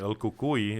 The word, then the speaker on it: El Cucuy: young, and the boogeyman, El Cucuy is how you say it in Spanish, came and stole his nipple.